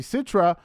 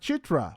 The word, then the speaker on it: Citra: say her name right Sam calls his fiance Citra when her name should really sound like chitra which is how she pronounced it when she introduced herself he clearly doesn't know how the letter works and in the Indonesian